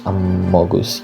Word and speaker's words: amogus: the pandemic where the amogas amogus yeah it's pronounced like that, what mainstream, you know.